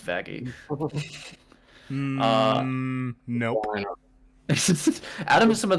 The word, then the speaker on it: Vaggie: named you the best thing ever vagi it's pronounced vagi nope Adam is some of the best faes